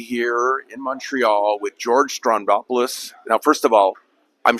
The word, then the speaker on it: Stroumboulopoulos: me to be here in Montreal with George Strondopoulos. Now, first of all, I'm sure we all mispronounce your name, so give me the correct pronunciation. I'm sure everyone messes it up. Strombolopoulos.